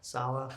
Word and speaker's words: Saleh: How do you pronounce it? Saleh.